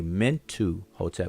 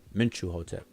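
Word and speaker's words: Mentuhotep: a mint to hotel most people will say meant to hotel but it's actually meant chew mint you hotel with the truth sound there similar to how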